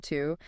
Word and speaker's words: TU: Right, which brings us to Planet 2, TU, pronounced 2.